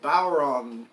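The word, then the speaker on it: bodhrán: bauer Bodh ro end doesn't sound like it should sound like that but many years ago we had an Irish bowren player tell Jan how to pronounce it he said bow like the bow of about wrong like you're long so bow ROM is we were told it was pronounced you can stretch the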